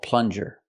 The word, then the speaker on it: plunger: a plunger pronunciation plunger use the short uh sound like cup and up plun plus the J sound like in juice and jump J plunger this is